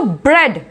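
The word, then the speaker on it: bread: ऐसे यहां पर देखो, अब EA का जहां लिखा होगा तो ब्रेड, जो E का ही साउंड हम यूज कर रहे हैं, ए इसमें साइलेंट है, ब्रेड, ड्रेड, ठीक है।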